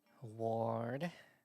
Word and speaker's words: Ward: So, how do you say that? Ward. Sword. It's like sword, but sword. Ward sword.